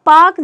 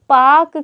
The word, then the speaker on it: Palk: वो हो जाएगा हमारा पाक की जल संधि या पाक जलडमरू मध्य। और पाक की स्पेलिंग ऐसे हो जाएगी, ठीक है, PALK, पाकिस्तान वाला पाक मत समझ लीजिएगा।